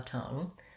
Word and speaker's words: tongue: So fun and rung, much and lung. That doesn't make a lot of sense in terms of the meaning of the words, but getting one of the vowels and pairing the, or even just the or a lung, a rung, a tongue, versus la, or lawn, long, law, long.